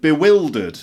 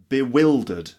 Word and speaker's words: bewildered: fourth is the word bewildered which means confused bewildered not bewilder ed but bewildered for example I was